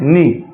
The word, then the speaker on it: knee: पहली मीनिंग है हमारे सामने नी। इसका KNEE मीनिंग लिखी हुई है। इसको उच्चारण में नी पढ़ा जाता है और यहाँ पे फोनेटिक सिंबल के आधार पर इसको न को एन से दर्शाया है और ई यानी ई